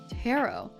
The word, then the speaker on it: tarot: we are doing uh Tarot I would say Taro but that only makes me think of like the purple yam so let me just